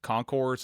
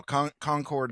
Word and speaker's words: Concord: Concord is a is a trap. Um you know, as you said, there's many many names or many many cities like that across the across the country name Concord or Conquered.